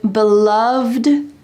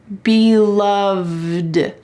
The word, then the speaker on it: beloved: about this lovely expression beloved matriarch here this first expression has an Eed D at the end but listen to How It's pronounced beloved there is a V and a d side by side beloved you can use